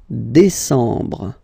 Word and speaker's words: décembre: Décembre, décembre, décembre. Same thing, E-M en, décembre. Okay, so let's repeat them. Juillet, remember this, yeah, yeah, yeah. Juillet. Août, first option. Août, second option. Septembre, octobre, novembre, décembre.